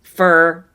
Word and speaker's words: for: this lesson the more this habit of saying fur and rushing through it the more that habit